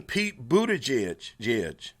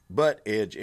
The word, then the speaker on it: Buttigieg: Look, even Pete Buttigieg, Butt edge. It's butt edge to me. That's how it's spelled. He can say boot.